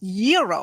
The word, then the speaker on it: gyro: Gyros I order the gyro Supreme suddenly the lady behind me chimes in it's pronounced Euro then the fell behind her says it's a gyro I turn my back